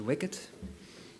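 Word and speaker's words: WICD: profiles together uh it's called Wicket you have to pronounce it Wicket um and that's uh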